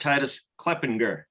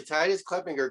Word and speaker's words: Titus Kleppinger: We got Titus Kleppinger. I said it right, right? Yes, absolutely. Titus Kleppinger.